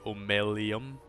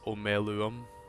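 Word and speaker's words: Omeluum: it power is unsettling I just realized I've been saying his name wrong I always say omum but it's uum makes sense just me not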